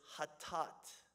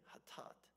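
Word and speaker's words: חטאת: The general word for sin is hatat. Okay, hatat. You would spell it something like this in English.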